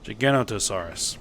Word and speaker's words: Giganotosaurus: Giganotosaurus. Missing a syllable in there.